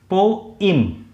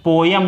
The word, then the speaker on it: poem: पोम या तो इसका ये होता है या इसका प्रोनाउंसिएशन होता है पोइम, पोइम। इसका प्रोनाउंसिएशन पोयम नहीं होता है, पोयम नहीं होता।